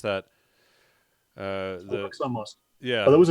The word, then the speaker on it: Al-Aqsa: And then there was a report that how do you pronounce that? Al-Aqsa Mosque.